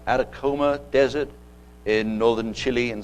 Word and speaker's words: Atacama: to be the atacama i believe i'm pronounced at a coma desert in northern chile